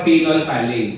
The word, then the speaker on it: phenolphthalein: Phenolphthalein nga ang pronunciation daw. Pero tayo mga Pinoy with a very beautiful accent, phenolphthalein. Diba? Pero phenolphthalein, silent PH nga raw.